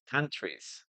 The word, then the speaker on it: countries: Remember, we don't pronounce the letter e. Countries.